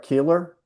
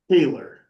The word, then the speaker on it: Keer: uh as you uh I'm sorry, Keeler. Keer, I'm sorry for mispronouncing your name. No, no problem. Very common mistake.